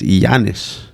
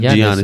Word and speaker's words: Giannis: his name last night it's iannis it's not gianni it's like giannis yeah with like a